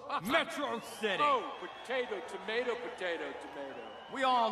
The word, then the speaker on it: Metro City: did you move you mobile get it's pronounced Metro City potato tomato potato we all know how this